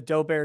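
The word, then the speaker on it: Daubert: referring to is the dober standard which is uh which is k-slot d-a-u-b-e-r-t i pronounce it dober because it looks french i don't know but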